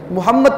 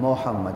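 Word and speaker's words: Muhammad: ओ लिख देते हैं मोहम्मद ये मो नहीं है मु है एम यू बनता है पेश है पेश की जो पूरी आवाज इंग्लिश में यू देता है ठीक है और ई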